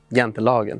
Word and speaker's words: Jantelagen: Jante's law, or the Swedish pronunciation of it being Jantelagen.